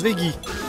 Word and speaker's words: Veggey: Ça se prononce Veggie.